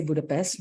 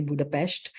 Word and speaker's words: Budapest: when I realized that the locals we say Budapest but the locals say Budapest and it's a very sweet way of uh speaking and I I love the pronunciation and I try to do it every time of course sometimes I